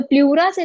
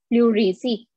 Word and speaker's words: pleurisy: Spelling देखिए, pronounce हम तब अच्छे से कर पाएंगे जब हम उसकी स्पेलिंग भी ठीक जानेंगे, है ना. सो प्लूरा से रिलेटेड जो डिजीज हम डिस्कस करेंगे दैट इज PLEURISY, प्लूरिसी.